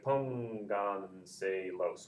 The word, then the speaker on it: pónganselos: The stress is over the O. So pónganselos. 1, 2, 3, 4. It's 3 or more back. It's 3 or more back. It actually happens to be on the 4th syllable back.